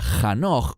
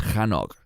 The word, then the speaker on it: Hanoch: Eso se remonta al libro de Génesis, donde se nos habla de Hanoch o Enoch, según como pronuncie su nombre. En hebreo es Hanoch.